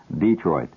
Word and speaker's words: Detroit: I I just flew out to Detroit. That's the way they pronounce it out there. Detroit.